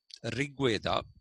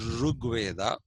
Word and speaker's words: Rig Veda: Okay, for example, the Janapadas that we find in uh, the uh, Rig Veda, actually it is to be pronounced Rug Veda.